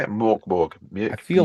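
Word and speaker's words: Mörk Borg: Morkborg. I Mjuk feel like Fury. I feel like you said it right the first time. It's because of the umlauts on top of the Yeah. O.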